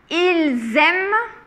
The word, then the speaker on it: ils aiment: Par contre, ici, on entend bien le Z. Nous aimons, vous aimez. Et ici, ils aiment, elles aiment.